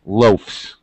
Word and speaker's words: loafs: So, the pronunciation now follows the pronunciation of an F f or a voiceless sound. So, it's loafs.